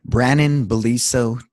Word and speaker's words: Brannon Beliso: you say it just in case yes ma'am Brannen Billy so calm and check him out also on TED